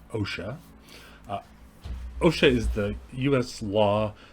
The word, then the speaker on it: OSHA: So, the Occupational Safety and Health Act OSHA, which is usually pronounced OSHA.